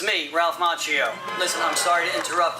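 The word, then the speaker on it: Macchio: Daniel Son uh played by Ralph Machio which is actually the Italian way pronounced Mchio but I believe he pronounces it machio.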